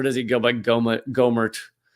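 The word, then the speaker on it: Gohmert: I I can see someone said that it's pronounced gomert which is the wrong way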